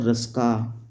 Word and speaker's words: Ruska: एक व्यक्ति हुए हैं, उनका नाम है नाल और रस्का, ठीक है, नाल और रस्का। यहाँ पे KNUL होता है, डबल L, और इसके बाद रस्का का स्पेलिंग है RUSKA, रस्का।